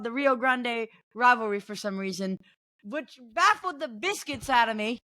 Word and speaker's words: Grande: us a little bit thank you very much Grande I was doing the Gringo pronunciation but go ahead why